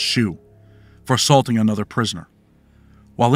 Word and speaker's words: SHU: the special housing unit shu pronounced shoe for assaulting another prisoner